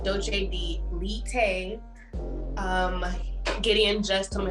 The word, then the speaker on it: doce de leite: I've actually had an amazing Brazilian dessert called doce de leite. Gideon just told me how to pronounce it correctly.